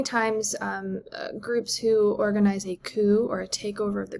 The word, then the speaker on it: coup: So first, let's talk about the word coup. It has this kind of silent T at the end, and it's short for coup d'etat.